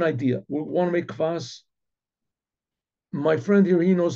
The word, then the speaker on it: kvass: But somebody developed a type of a drink which was called kvass. Kvass, I guess in English you spell it K-V-A-S, kvass.